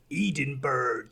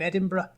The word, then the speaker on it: Edinburgh: And it's not Moscow, and it's definitely not fucking Edinburgh. It's fucking Edinburgh.